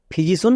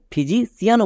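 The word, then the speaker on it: physician: মানুষ তাই এখানে দেখো মানুষ বোঝানোর জন্য শেষে সি আই এন সন উচ্চারণ হয়েছে তাই এটা দাঁড়ালো ফিজিশন বা কেউ কেউ একে ফিজিশিয়ানও বলতে পারো কারণ সি আই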